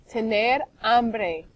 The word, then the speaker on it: hambre: Tener hambre. Remember that H is silent. Tener hambre.